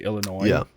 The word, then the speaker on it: Illinois: in conversation I say Illinois because that's how it's pronounced but when I'm reading it I by default I'm pronouncing every letter and so I get